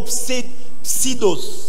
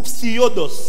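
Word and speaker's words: ψευδής: Le mot mensonge ici, c'est le mot pseudos. The word lying here is the word pseudos. Ou psiodos. Pseudos. Psiodos. Ça s'écrit exactement comme on dit pseudo.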